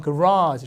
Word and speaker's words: garage: 이거 내 마음대로 그냥 게라지 막 이렇게 쓰면 안 되고 이게 이제 발음이 있는데 미국 사람들은 강세가 여기 줘요. 그래서 발음이 약간 garage 이렇게 돼요.